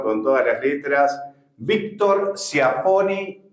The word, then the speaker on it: Ciaponi: Me corregiste, Chiapponi. Se escribe CIA, se pronuncia Cha.